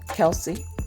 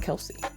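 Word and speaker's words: Kelce: homage to uh Taylor Swift and Travis Kel Kelsey well they call him Kelsey now I heard somewhere that his the actual pronun pronunciation of his last name is kelse it's not Kelsey people just added the e but anyway kelse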